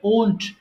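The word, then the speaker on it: won't: আর এটার উচ্চারণ হবে ওন্ট।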